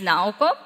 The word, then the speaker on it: Nao: my name name is Nao uh how to remember this name is pretty easy now like right now and a company Nao that's how you say my name I'm a globalizer at